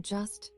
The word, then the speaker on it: just: The J in just pronounced CH in the Orcadian way.